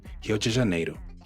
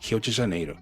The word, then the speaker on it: Rio de Janeiro: You'll hear something closer to Rio de Janeiro, Rio de Janeiro. Or word like car, you'll hear something closer to carro, carro. So that R at the beginning of a word is pronounced like an H, and the RR in